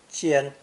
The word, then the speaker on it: 間: And this is where the other pronunciation comes in, first tone, 间.